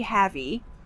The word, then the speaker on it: heavy: is really havy havy the word is pronounced heavy again we see the short a sound like red and 10 heavy not heavy but he heavy example the elephant is